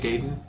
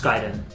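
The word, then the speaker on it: Gaiden: gayen whatever yeah I'm just going to call it Ninja gayen or ninja giden it's giden I know it's don't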